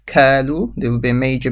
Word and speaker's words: قالوا: Qo. This is the qaf. Do not say as a kaf. Kalu.